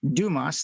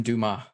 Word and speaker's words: Dumas: So today's guest on our show is Dumas. Did I pronounce that properly? Yes, it's French. Dumas.